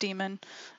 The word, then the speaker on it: daemon: default it's saying that the daemon and this is pronounced demon the demon is user